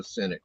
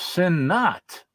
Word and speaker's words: Sinnott: So this is a signed Joe Sinnott copy of Spellbound. Well, if he signed it for you, then you ought to know his real name is pronounced Sin Not.